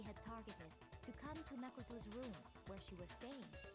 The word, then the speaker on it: Makoto: Makoto? I don't like it, even though I know that that's more correct than the way that we pronounce it. Yeah. Makoto.